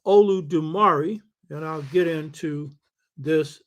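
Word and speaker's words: Olodumare: therefore describe the Yoruba god, who is called Olu Dumari, and I'll get into this in a minute, which is spelled O-L-U-D-U-M-A-R-E. O-L-U-D-U-M-A-R-E. So God, who is among the Yoruba called Olu Dumari, because God has assistants, the way an Oba has councils.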